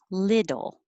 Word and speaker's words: little: with the first one little little so those t's change to d's when there's two t's